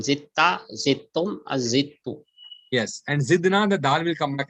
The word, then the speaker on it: zidna: the qalqala will come here, and we will pronounce it as zidna, zidna.